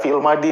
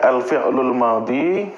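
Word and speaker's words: الفعل الماضي: Ya, kalau dalam kajian-kajian sih ya sudah fi'il madi, fi'il madi gitu aja kita nyebutnya gitu kan. Tetapi secara bahasa Arab yang benar gitu ini pengucapannya ya. Alfi'lul madhi fi'lun madin ya.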